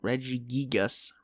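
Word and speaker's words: Regigigas: reggie gigas i'm gonna kill my urethra dude reggie gigas reggie gigas okay fine sounds stupid but i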